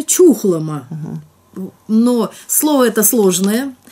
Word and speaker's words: Чухлома: называется гу число чухлома правильно произносится чухлома но слова это сложная